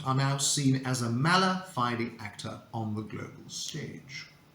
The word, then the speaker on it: mala fide: look at it um the pronunciation is mala fighting in both British and American English so that's why I prefer the British pronunciation because there's a nice Civic between boner Heidi and Mala fighting whereas in American English you say bona fide and then Mala fighty so you see there's